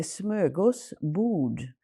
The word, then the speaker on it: smörgåsbord: Okay, so it's I'm going to correct your spelling, your pronunciation. It's a smörgåsbord. Smörgåsbord. Smorgasbord.